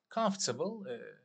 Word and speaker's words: comfortable: Comfortable, telaffuzuna dikkat edelim. Comfortable değil arkadaşlar. Comfortable. Daha British şeyle.